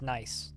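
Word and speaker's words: gneiss: uh e s s that stone is pronounced nice the um g is silent well all right so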